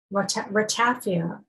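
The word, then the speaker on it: ratafia: lots of i'm going to mispronounce it i'll spell it r-a-t-a-f-i-a rattafia um and i think that you would see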